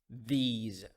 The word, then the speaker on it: these: The S in these words pronounced as Z sound. Those, these.